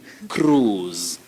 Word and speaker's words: cruise: But this word, the I is silent. So the sound O becomes elongated. Now it's a long sound, ooh. So you say cruise. Don't say cruise. Don't say cruise or cruise. Say cruise.